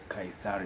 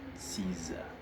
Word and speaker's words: Caesar: Kaiser is how we pronounce it locally but actually in English you should pronounce it as Caesar.